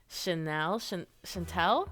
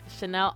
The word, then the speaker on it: Chanel: All right, next I am going to do Chantel. No, I said it right the first time. Chanel Onyx.